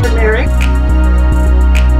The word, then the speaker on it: turmeric: Turmeric in it? It's turmeric. We used to say turmeric, but it's actually turmeric. See how it's spelled?